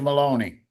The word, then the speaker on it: Maloney: the first Judge Maloney. Of course, rhymes with baloney.